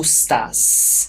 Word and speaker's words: estás: So, see this 'shh' at the end, this 's' that we transform into a 'shh'? This is typical European Portuguese. Brazilians would just say 's'. So they would say 'Como estás?'